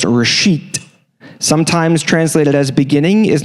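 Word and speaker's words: ראשית: The first word is pronounced reshit.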